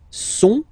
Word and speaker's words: sont: Okay, ils sont, final T not pronounced, ils sont, elles sont.